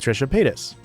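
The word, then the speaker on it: Trisha Paytas: And at first, it was meant to be a a a subreddit that discusses the show Frenemies that he had with Trisha Pis.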